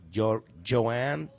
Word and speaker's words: Jhoan: You It's a soft J, so it's Joanne.